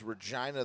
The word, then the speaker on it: Regina: I will Is fucking Regina dominate."